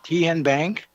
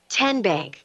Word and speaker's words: TN Bank: How do you say the name? TN Bank? Nope. Tin Bank. Uh-uh. So, what is it? Tenbank. Ten as in Tennessee.